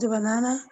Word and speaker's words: banana: For example, in the word banana, the stress on the second syllable.